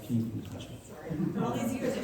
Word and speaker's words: Keene: It's actually pronounced Keene.